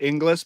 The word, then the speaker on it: English: Gonna going to skate right past you butchering my last name as Ingles, not English.